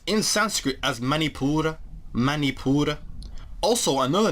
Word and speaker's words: Manipura: your emotions now the naval chakra which is pronounced in Sanskrit as Manipur manipura also another name for this chakra in Sanskrit